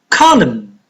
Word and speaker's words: column: H is silent no no the initial K is silent half half M is find column column n is fine psychologist psychologist cyan't island